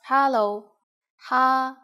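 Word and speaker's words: 哈佬: common informal greeting is hello Hao just as you can guess hello is just hello with the Cantonese pronunciation we use it when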